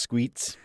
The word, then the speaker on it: Squits: Squits and Mr. Moistanus. Also, mine's pronounced Squeets.